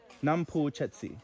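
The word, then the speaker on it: น้ำพุเจ็ดสี: And how do I pronounce this? Chetsi. Yeah, Chetsi. Nam Pu Chetsi.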